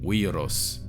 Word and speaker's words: viros: If the letter U was found as a consonant, it might be written down as W, W, like in viros, which means man and is related to Latin vir.